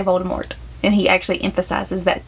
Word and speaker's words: Voldemort: interview she did like you're actually not supposed to pronounce the T in Voldemort but we all do and even in the movies they say Voldemort and he actually emphasizes